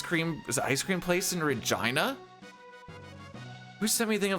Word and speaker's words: Regina: The town or the city isn't vagina. It's called Regina. We just It's known as the city that rhymes with fun.